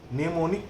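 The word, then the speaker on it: mnemonic: ये am silent है, ठीक ना, इसमें निमोनिक कोड नहीं बोलना, इसको निमोनिक कोड बोला जाता है। निमोनिक code, NEMONIC, निमोनिक code, ठीक। इसको निमोनिक कोड नहीं बोलना कोई, ठीक।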